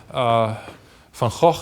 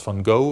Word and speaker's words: Van Gogh: Van Gogh is actually the painter that you may pronounce Van Gogh or something like that, but it's Van Gogh.